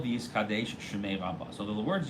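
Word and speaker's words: וְיִתְקַדֵּשׁ: Hebrew, and so therefore the Daled should be pronounced in both of them with a tzereh, the A sound, the two dots underneath. Okay? And you shouldn't pronounce it with a shva or a patach.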